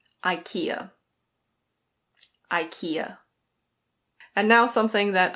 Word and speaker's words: IKEA: I think in Swedish it's pronounced IKEA. Something like that. But in English we pronounce it IKEA.